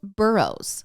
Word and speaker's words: Burroughs: It's called Burroughs, which is spelled Burroughs, and their mascot is the burros, like the donkey.